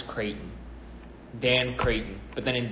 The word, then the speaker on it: Creyghton: one ace of Dan and then my last names Creighton Dan Creighton but then